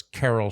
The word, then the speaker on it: Carol: So, question, is Carol and Cheryl pronounced exactly the same except for the sh and the k? Or is there a slight difference? No, they're pronounced the same. So it's Carol, Cheryl.